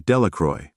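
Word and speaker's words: Delacroix: and Harry Jones and Dicky dequa the villagers pronounced this name delacroy eventually made a great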